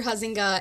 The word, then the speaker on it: Huizenga: Senator Mark Huizenga, is that how you say it? Yeah. Senator Huizenga and Senator Michael Weber are having coffee hours March 17th for Huizenga and March 20th for Weber.